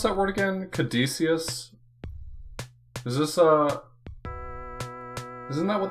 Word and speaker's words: Caduceus: Yeah, I'm not worried about the Greek pronunciation with the hard with the hard C sound. Caduceus is probably most correct, though, for English.